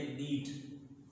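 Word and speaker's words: knead: यहाँ पर के जो है वो साइलेंट है तो के साइलेंट हो गया. अब हम क्या पढ़ेंगे? नीट. इसको नीट नहीं पढ़ेंगे, इसको पढ़ेंगे नीट. नीट.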